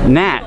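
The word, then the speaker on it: gnat: n what about the the insect nat it's ganette right g-n-a-t you know i always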